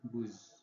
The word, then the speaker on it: buz: Kemudian ini ada BWC ya, kalau kita tulis atau kita perhatikan ada 3 huruf B, W, dan C, tapi ketika diucapkan menjadi buz ya, artinya kambing.